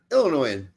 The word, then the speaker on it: Illinoisan: Illinoisan. Yeah, it's Yeah, French don't pronounce the S on the end of things like that.